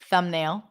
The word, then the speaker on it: thumbnail: Thumbnail. Climb. Very good. All right. So all those words that have the MB spelling pattern, we don't pronounce the B sound.